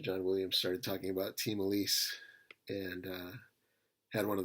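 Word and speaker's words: Ti Malice: i realized oh apparently that's the correct way to pronounce time alice so team elise uh is this sort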